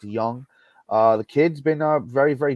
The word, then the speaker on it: Jung: Josh Jung, it's actually spelled Jung, but it's pronounced Young.